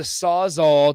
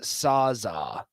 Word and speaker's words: Sawzall: Unnamed texter says it's pronounced Sawzall. You city boys. That's Sawzall. from Riley. Sawzall. No L. I'm gonna keep using the L because it saws all.